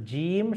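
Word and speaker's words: ج: অংশ জিহব্বার মাঝের অংশ উপরের তালুতে লাগিয়ে আমার কিন্তু জিম সঠিকভাবে উচ্চারণ হবে। কেউ যদি বলে জিম জিম জিম তাহলে ওটা ভুল উচ্চারণ।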